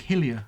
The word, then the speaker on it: Hylia: How do you pronounce the lake in the? Lake Hyrule. Hylia. It's Lake Hillier.